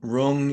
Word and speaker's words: Rong: not like a so Rong Rong is never pronounced with like that that tongue thing gotcha thank you yeah